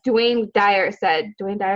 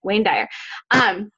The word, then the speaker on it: Wayne Dyer: I think it was Dwayne Dyer, did I say his name right? I love him and I didn't say his name right. Wayne Dyer.